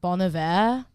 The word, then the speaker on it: Bon Iver: Also, Bon Iver is pronounced Bon Iver.